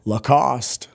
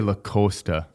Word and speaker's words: Lacoste: Lacost. I always say Lac Costa.